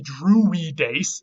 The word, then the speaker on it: Druides: In Gaulish, the Druides, and you can see the weed in there when you say it like that, Druides.